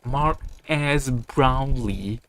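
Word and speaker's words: Marques Brownlee: YouTubers and cash grab Mark as brownley um that yes that's how you say his name I will not be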